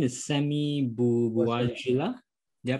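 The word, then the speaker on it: Sami Bouajila: I guess your actor, I think his name is Sammy Bouajila. Did I pronounce it correctly?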